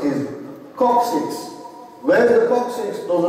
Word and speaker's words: coccyx: And in the English language, this bone is referred to as, the way you pronounce it is coccyx.